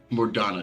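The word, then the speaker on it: Mor Dhona: part of it yeah more more donna the h is silent all right um i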